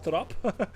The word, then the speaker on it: trap: uh stairs basically like we say it as trop.